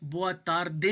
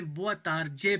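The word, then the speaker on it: boa tarde: नीचे देखो, बोआ तार दे, इसको मैंने नहीं पढ़ा, इसको मैंने बोआ तार जे पढ़ा है, तो डी है तो जे की आवाज़ आएगी, ठीक है।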